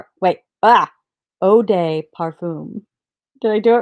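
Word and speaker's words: eau de parfum: John vintage Parfum and Oh de parfum so everybody I asked how to say EI u and everybody was like it's pronounced Oh so am I saying it right Oh de parfum wait ah Oh de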